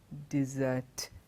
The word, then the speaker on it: dessert: Spelling of both the words are very similar, but the pronunciation is different. Desert, dessert. Desert, dessert.